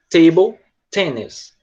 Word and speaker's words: table tennis: O T, o som do T em inglês, ele é sempre um som soprado. Então é como se você falasse soprando. Table tennis, tá? Table tennis. É um T bem soprado, certo, Maiane?